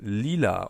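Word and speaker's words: lila: Finally on the inner layer we have leela or purple.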